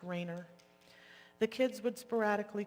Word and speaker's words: Rainier: The kids, it's spelled Rainier, but he was pronounced Rayner.